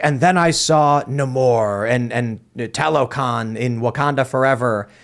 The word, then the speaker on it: Namor: Is that how it's pronounced now? Uh-huh. Okay, Namor. well, not for my entire life of reading Marvel comics, but whatever. I don't think I'm supposed to roll the R, but...